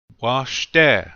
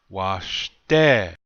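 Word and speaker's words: wašté: Washte. We should all know what this means by now. This means good. Notice the accent is on the second syllable. Washte. Repeat after me, please. Washte.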